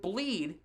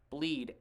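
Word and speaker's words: Blidh: bounced it right to bleed b-l-i-d-h it's how it's pronounced it's pretty he pronounces it bleed i don't understand it's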